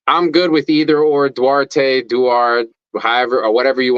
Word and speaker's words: Duarte: I go by both but it rolls off the tongue better as dwarte everybody says dwarte I grew up on dwarte all the homies back on the Block and in high school and all that stuff called it that way broken down phonetically which is why I used it for my logo it's broken down as do art which is what I